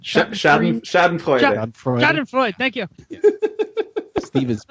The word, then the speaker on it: Schadenfreude: me your German pronunciation. What is that? Scheuden? Schadenfreude.